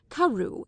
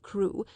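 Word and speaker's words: Crewe: Madame Pascal pronounced it as if it were karu instead of crew, but that might merely be a matter of pronunciation.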